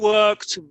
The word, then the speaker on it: worked: You worked very hard last week. Fija la pronunciación. Worked es con el T.